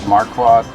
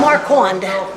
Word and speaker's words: Marquand: So it rained, so we can see the Marquand log cabin and museum.